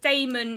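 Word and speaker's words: dæmon: i always pronounce the damon in in his dark materials that way because it has an ae and if it was meant to be pronounced demon he would have just spelled it like that and not to mention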